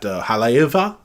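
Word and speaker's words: Haleiwa: I keep forgetting that W's are pronounced like V's. So when we went to that Haleiva, I did it with a W instead of a thing.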